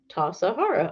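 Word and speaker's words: Tassajara: the is bread interesting tasahara bread book recipe pronounced tasahara oh okay uh what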